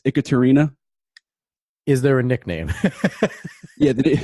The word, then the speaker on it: Ekaterina: Probably because nobody can pronounce it first go. It's Ekaterina.